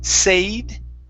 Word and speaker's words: said: Okay, instead of a long A saying said, okay, the word is said with a short E.